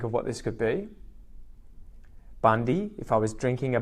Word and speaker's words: Bundy: So this is about halfway between Brisbane and Cairns, and the first syllable is bund. Bund. Can you guys think of what this could be? Bundy.